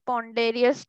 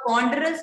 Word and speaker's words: ponderous: Okay क्रिंग lock and opened what sound like पॉन्डेरियस door. मॉन, what क्या बोला? मॉन sound like अ पॉन्डेरियस door. Door, पॉन्डेरियस door. Spelling बोलो भाई। Ma'am आपने तो कहा पॉन्डेरियस, स्पेलिंग बोलो आप। पॉन्डरस को पॉन्डेरियस बोल रहे हो यार।